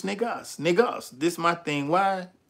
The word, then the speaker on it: Negus: So what they don't Negus is not pronounced Niger, you know what I'm saying? It ain't got that French shit. It's Negus Negas.